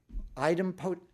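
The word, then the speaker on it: idempotent: Item potent.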